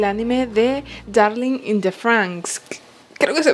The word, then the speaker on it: Franxx: ella es del anime de Darling in the Franxx. Creo que se pronuncia así, Franxx, es F-R-A-X-X, perdón, me saltó una N, F-R-A-N-X-X.